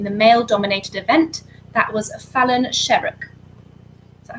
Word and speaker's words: Fallon Sherrock: That was Fallon Sherrock. Is that how you pronounce it? Yeah. Fallon Sherrock for question 6.